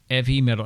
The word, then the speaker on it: 'Eavy Metal: commented on it and the E medal and I say it like that cuz they specifically don't have an H righty EA yeah um